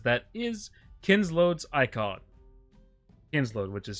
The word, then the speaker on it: Kinslood: Kinsload, which is spelled Kinslood.